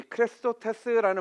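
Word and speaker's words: χρηστότης: 이 크레스토테스라는 말은요, 그리스도라는 말과 발음이 비슷합니다.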